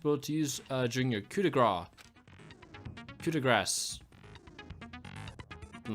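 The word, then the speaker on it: coup de grâce: It's coup de grace.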